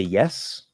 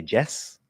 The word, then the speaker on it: yes: If you say yes, and instead you say Jess, which is a very common thing for Spanish speakers, Jess is maybe short for Jessica, the name Jessica, but otherwise it's not a word in English. Jess is not a word.